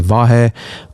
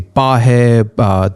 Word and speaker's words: Vahe: so difficult to say vahe especially in the Spanish uh language they cannot pronounce v that they they announce it uh pronounce it as a b like a b as in boy so it would drive